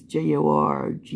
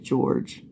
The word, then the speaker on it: Jorge: her boyfriend George Torres even though it's j-o-r-g-e you think it would be Jorge but they pronounce it George um they are playing